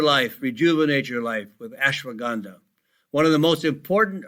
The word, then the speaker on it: ashwagandha: And that is spelled ASH. WAGANDHA, ashwagandha.